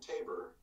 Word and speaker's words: Tabor: In English-speaking countries, we pronounce it Tabor. Tabor. If when my parents lived in Mexico in the winters, it was Tabor. Tabor, yes. But in Europe, it's Tabor. Tabor. So I pronounce it Tabor usually.